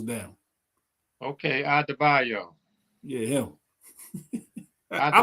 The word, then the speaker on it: Adebayo: Adebayo. He done broke the syllables down. Okay, Adebayo.